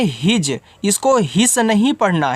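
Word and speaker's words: his: तो एच के बाद ही आई एस इसको आपको हिज पढ़ना है।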